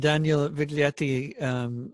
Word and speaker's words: Viglietti: have I pronounced that Uh-huh. correctly? Yeah. Yeah, and Daniel Viglietti, and I think you're going to play a